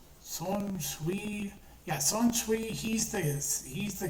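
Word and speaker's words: Shunsui: Shin, oh god, I'm forgetting, how do you pronounce his name? Son Shui, yeah, Son Shui, he's the captain who wears the flower komodo, the pink flower komodo, and he has two swords.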